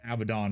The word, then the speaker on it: Abaddon: And I used, for the base model, I used Abaddon. Or Abaddon, however the fuck you want to pronounce him. The correct way, which is Abaddon.